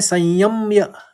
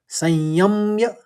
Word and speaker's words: संयम्य: दूसरे में संयम्य म दो बार आएगा। संयम्य पहले समयम होगा फिर मय हो गया।